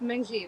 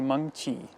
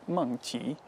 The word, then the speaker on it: Mengqi: Is that mangji? That's how you pronounce her name. It's actually mangchi. And and it has tone to it. It's mangchi.